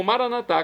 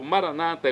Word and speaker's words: maranatá: E agora eu clamo maranatá, como dizemos nós católicos, ou maranata, é como dizem nossos irmãos separados, os evangélicos ou protestantes. Não importa a pronúncia, o significado é o mesmo.